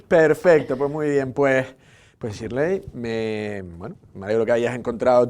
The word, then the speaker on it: Shirley: Yo me creí que era más americano Shirley, pero es Shirley.